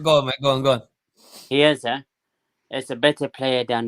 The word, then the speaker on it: Chiesa: Can you say his name? Chelsea. I can't pronounce his name. Chiesa. Chiesa, yes. Chiesa.